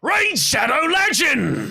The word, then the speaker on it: Raid Shadow Legends: The proper way to pronounce it is Raid Shadow Legends.